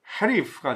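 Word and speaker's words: gerief: 네덜란드는 온스 보렌 게리프. 네덜란드 발음은 헤리프가 되죠. 헤리프.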